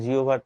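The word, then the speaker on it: জিহ্বা: তো তামিউল বলছে যে কি উচ্চারণ জিওবা এবং জিওভার্ দুটোই সঠিক না ভাইয়া জিব্বা উচ্চারণ হচ্ছে মূলত উচ্চারণ আমি যতটুকু জানি এর সঠিক উচ্চারণ হচ্ছে জিওভার কেক তো যাই হোক ওদিকে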